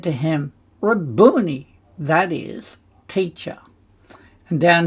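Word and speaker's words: Rabboni: five noon Yi raboni my master and that's an interesting um word cuz reborn is a masculine noun means Master Sovereign or Lord interestingly raboni was a Galilean pronunciation A totle of honor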